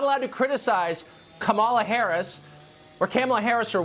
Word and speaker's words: Kamala: um host on Fox her name is pronounced comma like the punctuation mark La comma okay seriously